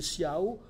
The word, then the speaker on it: ciao: et ciao en italien mais qui ici doit être prononcé SIAO avec un haut final puisque il fait assonance à la fin du verre parce que ça s'ajouterait